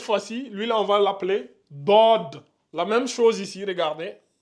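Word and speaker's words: ضاد: lui on va l'appeler DOD la même chose ici regardez j'écris d ici je mets un petit o en bas ici qui doit être subtile DOD DOD donc on a SOD et DOD DOD DOD donc vous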